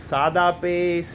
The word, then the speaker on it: SadaPay: मैं खुद बोलता था सदा पे, ठीक है, मुझे लगता था। लेकिन after watching a video and a brother, एक मेरे भाई हैं, उन्होंने मुझे बताया कि भाई आप इसको प्रोनाउंसिएट जो है ना वो सही नहीं करें। द वर्ड इज सादा पे, सादा मीन्स सिंपल, ठीक है।